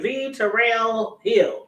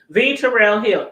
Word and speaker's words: V. Terrill Hill: V Terrill Hill. Yeah, V Terrill Hill.